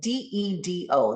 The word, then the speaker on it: dedo: in Spanish, it's spelled D-E-D-O. The first D is not pronounced like the second D. Dedo, right? When that D is in between two vowels in Spanish, it is the English TH sound.